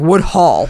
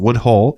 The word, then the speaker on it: Woodhull: Well, it's not H A U L Wood Hull, not Hall. No, I know. Yeah. So, it's not like Wood Hall.